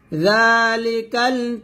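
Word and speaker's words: ذلك: জালটা পাতলা করে পড়বেন, জিহ্বার আগা সামনের উপরের 2 দাঁতের আগার সঙ্গে লাগিয়ে জালটা পাতলা করে উচ্চারণ করবেন। যালিকাল কিতাবু লা রাইবা ফীহ, হুদাল লিল মুত্তাকিন।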